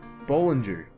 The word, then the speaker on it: Bollinger: to look it up it's um Bollinger it's a soft G which I should have